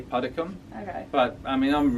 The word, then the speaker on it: Puddicombe: In England we say Puddicombe.